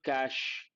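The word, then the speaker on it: cache: first time how do you pronounce the word cash same pronunciation means a place where something is hidden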